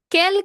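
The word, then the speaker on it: quel: masculine singular pronounced as kel.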